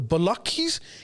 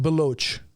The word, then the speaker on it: Baloch: what people call the Balakis? Can I just say it's pronounced Baloch?